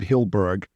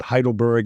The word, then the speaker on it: Hyldburg: and on Instagram it's same thing just hilberg just uh h y l d as in David a lot of people pronounce it heidleberg and Hindenburg and and Hamburg I've heard all